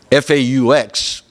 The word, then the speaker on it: faux: I guess, us Cajuns and Creoles here in South Louisiana, we many times gravitate toward the French spelling, F-A-U-X, faux, as in fake.